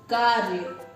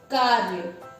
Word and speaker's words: कार्य: उसी तरह से कार्य को कार्य, तो इसका उच्चारण करेंगे हम कार्य, कार्य। पहले हम इस रेफ का उच्चारण कर रहे हैं, फिर हम य का उच्चारण कर रहे हैं।